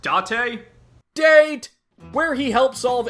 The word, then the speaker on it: Date: with long-running character makoto date it's pronounced dot a date where he helps